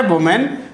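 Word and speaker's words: women: ऐसे हम बात करें वुमेन, तो वुमेन में भी आप देखेंगे यहाँ MAN है तो इसमें भी आपका क्या हो जाता है, MEN हो जाता है, और इसका उच्चारण क्या होता है, विमेन।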